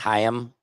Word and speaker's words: Haim: Who is a Haim fan? Let me know in the commentaries. No offense, Haim. I'm just not into him. No offense, Haim. I think you're lame. I think it's actually pronounced Chaim.